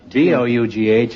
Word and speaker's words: dough: D-O-U-G-H is bow, isn't it? Therefore, H-O-U-G-H must be pronounced Hough, right?